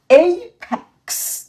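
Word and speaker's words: apex: এইপ্যাক্স এইপ্যাক্স এইপ্যাক্স। এখন কিন্তু এই ই উচ্চারিত হয়েছে, কারণ এখানে আমাদের আরো একটি লেটার এসছে তাই।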